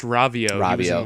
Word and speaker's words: Rovio: but then you have Rovio or if if I'm pronouncing that correctly with angry it's pronounced ravio Link Between Worlds yeah